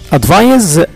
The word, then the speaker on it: advise: Advise S between two vowels تنطق كأنها Z.